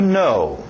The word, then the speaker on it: know: Agora, mesmo o som que vocês talvez já aprenderam a dizer sim e não em inglês, yes e no, essa mesma pronúncia do no. To know.